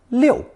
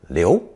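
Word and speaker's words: 遛: with the movement radical is pronounced fourth tone Liu and more rarely second tone Leo beginning with fourth tone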